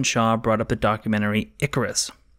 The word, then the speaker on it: Icarus: The best example of this behavior might be when Shaw brought up the documentary Icarus, which he mispronounced as Incarus, of course.